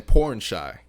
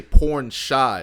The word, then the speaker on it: Pornchai: You say porn shy, like you're porn shy. Yeah, like maybe you're a porn actor who is shy.